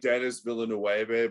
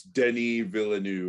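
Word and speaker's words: Denis Villeneuve: french so yeah yeah it looks like dennis villanueva but yeah yeah but it is not pronounced like that at all it's denny villeneux or something like that yeah i think they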